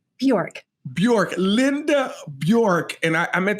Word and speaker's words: Bjork: how do you say your last name Bjork Bjork Linda Bjork and I meant to ask her